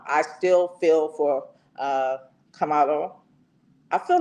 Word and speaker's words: Karmelo: Like I want to say Camilo, but it's Camalo Anthony.